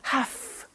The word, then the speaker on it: have: I have to notice I don't say V I say F have half it becomes has to